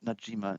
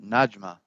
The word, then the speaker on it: Najma: So yeah, they talk about the tale of and we actually see No, I'm sorry, not Najima. Najma. Najima. Have emphasis on the wrong syllable.